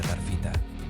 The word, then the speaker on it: taafeíta: Número 10, la taafeíta. Sé que no parece que se pronuncie así, pero se pronuncia tarfita.